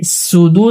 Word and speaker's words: صدور: ইউওয়াসউইসু ইউওয়াসউইসু ফি সুদু এখানে কিন্তু সদ রয়েছে অনেকে সুদু সিন উচ্চারণ করে থাকে এটা ভুল সুদু সদ পেশ সু আল্লাযী ইউওয়াসউইসু ফি সুদু